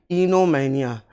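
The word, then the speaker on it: oenomania: दूसरा शब्द जो दिया गया है वो इनोमैनिया, ओ को साइलेंट करते हुए हम बोलते हैं इनोमैनिया।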